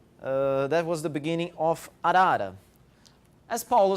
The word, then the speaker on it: arara: So we usually say arara, but I believe there are a lot of variations depending on which part of the world you are.